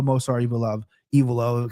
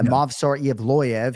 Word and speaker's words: Movsar Evloev: KenFlo, Movsar, and in fairness, it's one of the names that us play-by-play announcers all disagree on, and we all pronounce it our own ways. But I stand by Movsar Evloev.